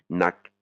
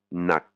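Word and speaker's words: หนัก: c'est cette intonation, ru, nak, hein, nak. Pareil, intonation et intonation cassée et voyelle courte.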